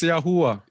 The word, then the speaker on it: Yahuwah: You don't pronounce that. It's Yahuwah. Yahuwah.